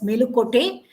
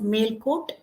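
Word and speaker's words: Melukote: happened has occurred in male court nowadays you pronounce it as melucote originally it should be called as male coat male coat means Mela means West Court means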